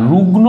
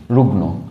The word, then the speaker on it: রুগ্ন: দন্তের নকে বোঝায় আর রুগ্ন বানান যখন আমরা লিখবো তখন কিন্তু আমরা রয় হস্যু গয় হসন্ত মধ্য এইভাবে লিখবো রুগ্ন ঠিক আছে হসন্ত না দিলে রুগ উচ্চারণ হয়ে যাবে ভুল উচ্চারণ হবে তো এটা কিন্তু আমাদেরকে